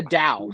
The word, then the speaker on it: Tao: that was bad but it is the Dow seriously it's the Dow Patrick and since we're working together I need you to pronounce it right because the people out there they need to hear your beautiful voice they need to hear the Dow you want me to